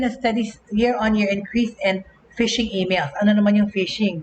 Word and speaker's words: phishing: Okay, phishing, and it's pronounced the same as actual fishing.